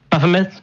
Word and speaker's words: Baphomet: So we're neither the Ten Commandments monument nor the Satanic Temple bench to piss people off, or the how's it pronounced, the Baphomet statue? Baphomet.